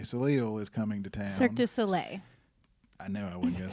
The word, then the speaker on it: Cirque du Soleil: Cirque du Soleil. I know I wasn't going to say it right. Cirque du Soleil.